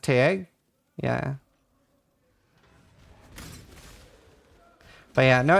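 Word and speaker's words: Tadhg: Taj is pronounced Tag.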